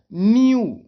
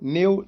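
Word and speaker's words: new: के बाद डब्लू है, तो इसको डेओ नहीं पढ़ेंगे, न मेयो, न नेओ, नहीं, इसको पढ़ेंगे डीओ। इनकी यू पढ़ते हैं ना, तो डीओ, म्यू, न्यू। उच्चारण स्थान कैसे, ड्यू, म्यू, न्यू, इस तरीके से पढ़ेंगे, क्योंकि ई डब्ल्यू को यू पढ़ते हैं, यू पढ़ते हैं, ना कि एव। तो डेव, मेव, नेव ऐसा नहीं पढ़ेंगे भैया।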